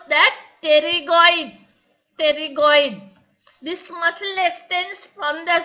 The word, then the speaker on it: pterygoid: Pterygoid. What is the name of the muscle? Pterygoid. P is silent. We should pronounce that pterygoid. Pterygoid.